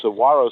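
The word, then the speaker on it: Saguaro: a w so okay Saro sisters it's spelled with a G but pronounced with a W Saro borrow trees that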